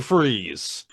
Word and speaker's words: Freeze: IT'S FREEZE, BUT YOU SPELL IT FRIES, LIKE FRENCH FRIES.